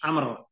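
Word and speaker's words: عمرو: seorang sahabat nabi itu tidak bertuliskan Ain mim ro kalau Ain mim ro itu Umar tapi kalau Ain mim ro dan ditambahkan wau huruf wau itu disebut atau diucapkannya Amr Amr Bin luay alhuzaai ini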